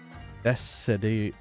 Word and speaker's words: Decidueye: It converts Z power into crystals, but upgrade Decidueye's. Would you say? Oh, you're saying it's not a K, it's a S. Decidueye.